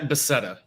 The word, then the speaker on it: Beseda: Beseda. Give it a name, Awesome. So Yeah, close. don't remind me. Beseda. I said, It's Czech actually, but I've had Spanish, Italian, so it's hard to pin down, I guess.